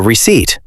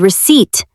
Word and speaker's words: receipt: Then the cashier gives you a receipt. Ah, the word receipt, another silent letter. Yes, it is spelled R-E-C-E-I-P-T, but the P is silent. We say it like receipt.